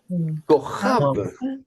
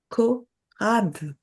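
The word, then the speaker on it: כוכב: Korab. Ah. Non, Kochav. Korab. Oui, Kochav. C'est un exercice difficile parce qu'on n'est pas habitué à prononcer une occlusive suivie d'une fricative gutturale en plus.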